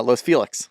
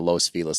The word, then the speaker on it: Los Feliz: as shooter calls it either Los Feliz or Los Felix were his two beginning options uh we we got it down to Los felis that's how the locals say it yeah I'm not really